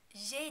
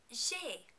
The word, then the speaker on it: j'ai: J'ai des devoirs.